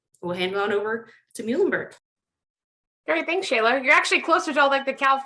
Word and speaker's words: Muhlenberg: be confusing so it's muhlenberg easy way to remember that is our mascot is a mule the animal so his name is